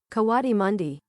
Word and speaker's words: coatimundi: Coatimundi.